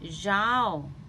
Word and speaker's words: zaub: So, today I'm going to teach some food in pronunciation of Hmong in English. Number 1, vegetables. Vegetables is ZAUB.